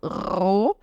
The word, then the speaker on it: roh: Eu tenho um R no início que eu vou ter que vibrar, então roh. E o H no final, ele tá só alongando esse O. O H, quando ele tá no final da sílaba, ele não tem som. Ele serve para alongar a vogal anterior. Alongar e fechar. Então, ao invés de falar O, eu falo O. Ou seja, a vogal é longa e é O, com a boquinha mais fechada.